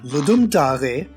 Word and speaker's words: Ludum Dare: Ludum Dare, yes, that's how it's pronounced, is a bi-yearly jam that was originally created by a watermelon.